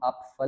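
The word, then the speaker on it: Apfel: अब इसको हम आप फल नहीं पढ़ते, आप फल, आप फल, यानी कि पे की साउंड ना होने के बराबर, आप साइलेंट के बराबर ही समझे इसको, आप फल।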